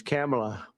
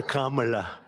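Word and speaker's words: Kamla: first name that we have, but fortunately it's pronounced different. It's Kamala, as opposed to Kamala.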